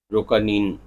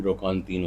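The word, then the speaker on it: Roquentin: کا مرکزی کردار انطوان روکانین ہے، جو روکانتین انطوان روکانتین اس کا صحیح تلفظ ہے، جو اپنی زندگی کی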